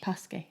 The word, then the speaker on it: Paskey: How are you pronouncing this? Paskey. Paskey, yeah. Paskey. Confirmed.